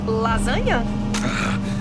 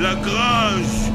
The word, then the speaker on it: Lagrange: Leis Anjo? Que complicado. Lasanha? A pronúncia é Lagrange.